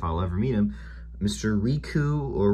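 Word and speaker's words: Ricou: don't know if i'll ever meet him mr riku or rico riku riku it's spelled r-i-c-o-u rico that's his name uh riku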